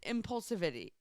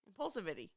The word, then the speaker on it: impulsivity: I put the wrong emphasis on the wrong syllable.